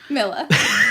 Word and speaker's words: Mila: And then I guess during this, like the Blood Queen Nimue, played by, is it Mia or Mila Jovovich? Mila. Mila.